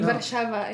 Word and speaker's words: Warszawa: Warszawa in Polish. Warszawa? Yes. Warszawa is Warszawa.